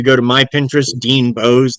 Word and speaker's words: Boese: If you go to my Pinterest, Dean Bose, that last name is spelled Boese. It's German.